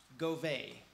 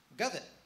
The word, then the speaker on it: Govett: a couple times because everybody that I knew pronounced Mel's last name go when I asked Mel how do you pronounce your last name he said go it so I said why do people say go I don't know so